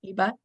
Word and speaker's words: iba: We're doing IBA or EBA. Is that how you pronounced it? Mm-hmm. EBA in Munich in October.